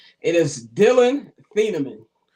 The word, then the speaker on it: Thieneman: Uh, I've been calling him Thaman all day, and I realized I was I was pronouncing it wrong, but I already did the reel and I wasn't going to redo it.